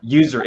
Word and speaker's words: usury: Riba usury. It's pronounced usury.